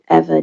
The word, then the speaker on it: Eva: Again, my name is Eva, pronounced like forever and ever.